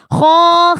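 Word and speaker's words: خ: Kho, khi, khu, bauh bersama. Khu, khon, khoni, khokhna. Minal mukhni. Makhi, khon, khoni, kho. Kho, jadi harus ngorok kho, ya, kho.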